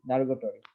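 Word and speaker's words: derogatory: তো এটা দারোগা স্টোরি, দারোগাটরি। দারোগা, এটা একটু দারোগার উচ্চারণের সাথে মিলে যায়।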